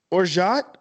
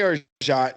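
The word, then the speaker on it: orgeat: do how to make or shot an almond or some pronounce it or jaw or some even say orga but just say our shot it's an almond syrup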